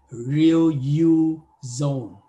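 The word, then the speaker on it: riluzole: Cái này nó phát âm hơi lạ nha, là chỉ tách ra chữ này là real ha, còn cái này là you, phát âm riêng ra, và zone ha.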